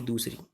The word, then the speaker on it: the: जो TH है ई है उसको द और दी दोनों बोला जाता है। जैसे कि यहाँ अदर है तो अदर जो वर्ड हम बोलते हैं इसकी प्रोनाउंसिएशन ए से शुरू होती है, मतलब वावल से शुरू होती है। तो वावल से शुरू होने वाली आवाज़ से पहले अगर TH है तो दी बोलते हैं, कॉन्सोनेंट वाली से पहले द बोला जाता है।